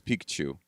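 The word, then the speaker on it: Picchu: h u it's not Pichu it's Pikachu so I always thought that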